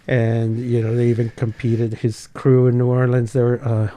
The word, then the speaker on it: Krewe: His crew in New Orleans, they were what were they called? The Crew of Destruction, but it was spelled like Mardi Gras Crew with KREWE.